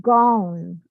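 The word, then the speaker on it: Gyan: to use the uh Gone mudra I believe that's how you say it it's spelled g-y-a-n and I'll show you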